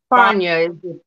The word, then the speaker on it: Fania: Is her name Fanny or some shit? Fania is the correct pronunciation.